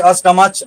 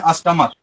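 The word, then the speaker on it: stomach: दें, क्या बोल दें, उच्चारण च बोल दें, मोनार्च, अष्टमच, आर्च, ऐसा नहीं होता। कहते हैं इस सब का प्रोनाउंसिएशन क्या हो जाता है, इसका हो जाता है मोनार्क, इसका हो जाता है अष्टमक, इसका हो जाता है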